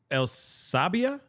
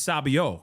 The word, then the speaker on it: sabio: Oh, El Sabia. Elabia. Elsabia. Am I saying that right? Somebody spell it out phonetically for me. No, it's Sabio because it's it's male, right? It's about a male.